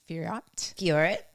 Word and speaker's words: Fiorot: Okay, speaking about countrymen, we have Manon Fiorot. Thank you. That's how you say it.